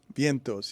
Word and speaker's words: Vientos: post Major League hit am I saying it Vientos Vientos yes it's it's a in